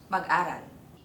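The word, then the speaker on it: mag-aral: mag-áral. Don’t connect the á and the mag! It will not be read as magáral but rather mag-áral.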